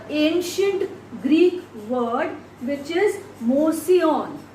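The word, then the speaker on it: mouseion: Now the word museum is derived from a ancient Greek word which is mosion, right? Mosion. I just spell it here, M-O-U-S-I-O-N.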